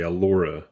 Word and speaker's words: Allura: it's actually allura a-l-l-u-r-a a laura but that's how they pronounced it on the cartoon so yeah you're you're